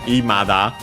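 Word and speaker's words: 未だ: Now, there technically is a variant in pronunciation Imada, which is an accent according to the online dictionary, but we'll see it better when it shows up.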